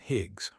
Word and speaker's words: Higs: Higs rhymes with big.